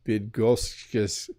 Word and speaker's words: Bydgoszcz: Greetings from Bydgoszcz, Poland.